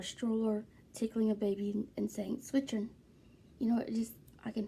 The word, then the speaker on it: zwitschern: German that's called switching switching is spelled z wi t s CH ER in switching now that s in the middle is completely silent but it's fiction means